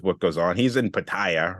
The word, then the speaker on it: Pattaya: goes on he's in Pattaya right okay or Patia if you want to pronounce it the way it should be and the the whole